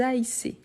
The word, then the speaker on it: haïssez: Donc, oui, vous haïssez. Vous haïssez. Ici, le tréma, donc le i doit être bien prononcé.